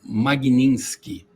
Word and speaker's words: Magnitsky: É, a lei se chama Magninski.